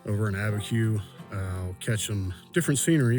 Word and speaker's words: Abiquiu: Gonna head to the town of Chamayo, and then from there, I will travel west to Abiquiu. I believe that's how it's pronounced. Over in Abiquiu, I'll catch some different scenery from what it's like here where I am.